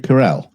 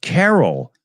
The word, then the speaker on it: Carell: Steve Carell. Yeah, Oh. it grew. Yeah. Okay. Interesting. Why? I thought it was Carol. I've never really looked it up. And I always figured Felix was just pronouncing it wrong.